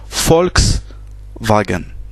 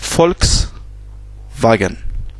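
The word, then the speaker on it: Volkswagen: par exemple la marque de voiture foxman se prononcent volks wagen folk ce qui veut dire peuple adoul vient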